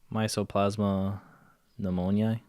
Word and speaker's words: Mycoplasma pneumoniae: If you could pronounce that. Mycoplasma pneumoniae.